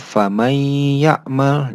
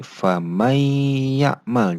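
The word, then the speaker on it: فمن يعمل: Jadi ketika nun sukun atau nun mati bertemu dengan huruf idgham, dibacanya langsung membaca huruf selanjutnya. Jadi famay ya'mal. Jadi nunnya tidak dibaca terlebih dahulu, jadi langsung ke huruf selanjutnya atau huruf ya.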